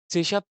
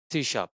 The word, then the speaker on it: C#: और इंट्रोड्यूस किया था देन सी शप प्रोनाउंस एस अ सी शप तो बहुत सारे लोग इसे सीश भी बोलते हैं पर इसका राइट प्रोनंसिएशन है सी शप आई होप गाइस कि